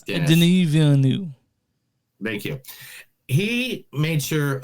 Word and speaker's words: Denis Villeneuve: I know it's Denis Villeneuve.